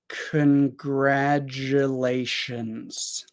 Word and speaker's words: congratulations: it approximately like this congratulations congratulations also I wrote a z sound at the end because when we have an S after a voiced sound it usually sounds more like a z however when we're speaking